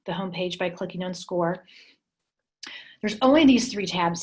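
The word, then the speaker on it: Scoir: said which replaced naviance i know it's spelled weird but it's actually pronounced score um let me go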